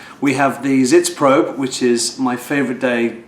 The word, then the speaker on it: Sitzprobe: How do you pronounce this word? Zitz probe.